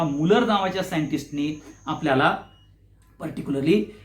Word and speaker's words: Mulder: आता ह्याचं जे प्रोटीन हे जे नाव आहे ते मुल्लर नावाच्या सायंटिस्टनी, म्हणजे मुलर म्हणतात त्याला, MULDER असं त्याचं स्पेलिंग आहे. फक्त डी हा सॉफ्ट आहे.